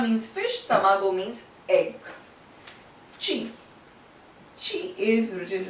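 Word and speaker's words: ち: It's not ti, but it is pronounced as chi. And it is not tu, but it is tsu.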